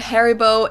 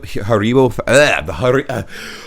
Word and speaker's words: Haribo: i did not know we pronounced it haribo oh wow haribol that's so weird it's like a different emphasis on different syllables we say haribo haribo but they say haribo so their emphasis is on the odd and our emphasis